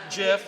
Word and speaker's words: GIF: said that it's pronounced jiff right people will say Oh G stands for graphics and that's why you pronounce it gift but the guy who created gif gave it the pronunciation jiff and that's how you